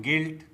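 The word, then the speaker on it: guilt: Antique antique टंग टंग तो दोस्तों आपको भी साइलेंट लेटर यू से बने शब्दों का इसी प्रकार से प्रोनाउंसिएशन करना चाहिए।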